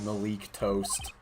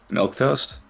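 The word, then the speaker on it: milquetoast: indeed it's like when Persona uses the word Malik toast milk toast what did you call it is that actually how you pronounce that word yeah the one with the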